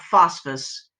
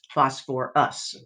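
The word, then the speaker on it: phosphorous: So the ite changes to us, but we do keep that extra syllable. It's not phosphus, it's phosphorus.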